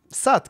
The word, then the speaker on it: Soot: I mean, the thing that I had in mind was like S-O-O-N, like soon. So logically, you know, suit or something like that. But no, Soot.